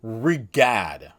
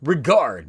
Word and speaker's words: Regad: I saw that the official romanization for the suit is called Regad, but I've been pronouncing it Regard because Regard actually does follow the nomenclature of Glare and Gazer, as it does mean to look or gaze upon.